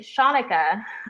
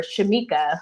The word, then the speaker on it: Shanika: for the longest time because most people couldn't pronounce my name they would say shanika shanika whatever shamika i have an aunt